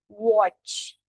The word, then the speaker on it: what: Então é watch, som de o e logo em seguida um do tchau, what.